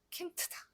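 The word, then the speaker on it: Kind: 근데 얘는 킨드가 아니고 킨트다. 킨트. 왜? 유성자음인 드가 단어 맨 끝에 나오니까 이거 발음하기 곤란하단 말이죠. 그래서 킨트 이렇게 무성음이 됩니다.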